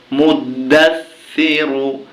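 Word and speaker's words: مُدَّثِّر: দাস মুদ্দাস সাজে সি র পেশ রু সিরু মুদ্দাস সিরু কিন্তু আমরা যখন এখানে থেমে যাব তখন উচ্চারণটা হবে মুদ্দাসসির ইয়া দ্বিতীয় আয়াত অফে পেশ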